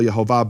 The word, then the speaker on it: Yehovah: the innocent and pure speak the name with the kamatz lip, and the kamatz is the name of that vowel, Yehovah. By the way, Yahweh doesn't have a kamatz; it has a patah, which is a different Hebrew vowel.